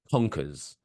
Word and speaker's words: Conkers: Have you ever heard of the game Conkers?